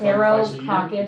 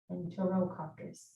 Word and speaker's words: Enterococcus: Enterococcus species. Wait. Yeah, you might want to spell it.